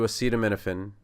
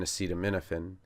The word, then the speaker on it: acetaminophen: So the uh is actually awah. So it just sounds like uh as in comma.